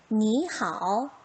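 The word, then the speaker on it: 你好: 삼성의 표시가 되어 있지만 실제 발음 어떻게? 이성으로 바꿔서 소리 한번 내봅시다. 니하오, 니하오.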